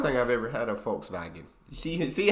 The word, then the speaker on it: Volkswagen: it would be pronounced Volkswagen at not Volkswagen so just imagine that it was spelled with an f and V instead Fox wagon this literally